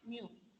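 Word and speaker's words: μ: So it pronounced as mu.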